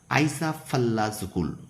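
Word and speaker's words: Eyjafjallajökull: ছ নম্বর প্রশ্ন আইসা ফাল্লাজুকুল। উচ্চারণটা খুব ভালো করে করো।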